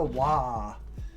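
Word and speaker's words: Waaagh: codex is calling the wah wah has always been the orc battle cry and it's kind of a joke battle cry but because wah is the orc spelling and pronunciation of war so they're they're trying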